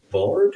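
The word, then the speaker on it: bárd: A bard b tech a long a on that one.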